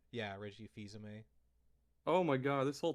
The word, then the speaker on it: Fils-Aimé: That's There how you was pronounce his last name? Yeah, Reggie Fils-Aimé. Oh my god, this whole time I've been thinking it was Phil's aim.